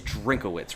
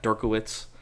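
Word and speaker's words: Drinkwitz: It is Drinkowitz, right? Not Dirkowitz. I can't get it right. Yeah, I Dennis think it's Drink. Drinkowitz, right? Okay, I've been saying it right.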